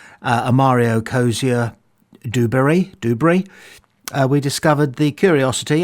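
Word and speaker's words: Duberry: Amario Kosia Dubbury and that's how you pronounce it by the way Dubrey not Dubris uh was Michael Dubbury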